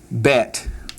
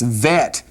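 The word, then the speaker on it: בית: Now understand that it's vet without the dogish and it'd be bet with the dogish.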